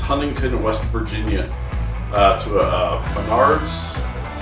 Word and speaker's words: Menards: I think it's Huntington, West Virginia, to a Menards, that's how you say it, see what we can find there.